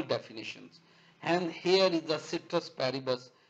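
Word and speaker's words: ceteris paribus: and here is the citrus paribus it's also pronounces real pronunciation is cactus Paribas but citrus paribus other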